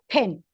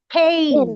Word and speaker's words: pen: We have to say pen. Say pen. pen, pen, Pen. pen, Pen. pen, Not pain.